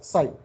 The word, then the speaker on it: psi: So you pronounce it as psi. P is silent here, Greek letter psi, and